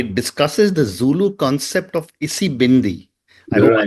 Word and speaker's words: Isibindi: Deepak, your book Wings to Fly discusses the Zulu concept of Isibindi. I hope I Right. have the pronunciation Yeah, right.